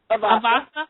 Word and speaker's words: Avasa: Avasa.